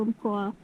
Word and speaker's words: Umpqua: So yeah, it's you drive through Umpqua National Forest. Do I even pronounce it properly?